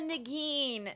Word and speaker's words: Negin: No, because I just think I'm a Negin, even though no one can You look like a pronounce it. Negin.